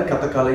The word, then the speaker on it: Kathakali: Kathakali is the way to pronounce it.